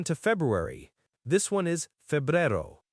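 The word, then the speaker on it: febrero: It actually looks very similar to English, but again, listen to the E sounds and that R sound. Febero. So, a for both E again. And another single R.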